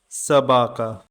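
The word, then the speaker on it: собака: Stress is on the second syllable. Sabaka.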